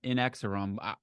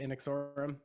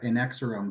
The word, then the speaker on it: Inexorum: how do you say is it inexorum well I actually it's funny I used to say uh in X room but uh I think I've heard it said both that way and in exorum